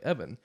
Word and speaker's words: Even: as Master Peel because Evan Peel is spelled E-V-E-N, and when you read that, that's just even, and it looks dumb, and so you can't just write that and expect people to read it like Evan.